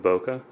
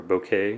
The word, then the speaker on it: bokeh: very sharp and uh has very nice smooth bokeh or bouquet Bou however you want to pronounce that depending on where you are you know the outof